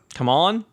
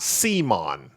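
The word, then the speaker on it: CMON: So it's a hard C. So it should be come on, not Simon.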